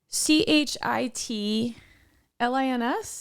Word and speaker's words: chitterlings: CJ so CH yeah c-h-i-t l-i-n-s what is it this is gonna blow your mind yeah the real way it's pronounced and spelled is c-h-i-t-t-e-r-l-i-n-g-s chitterlings they're called chitterlings but people call them chitlins what it's the uh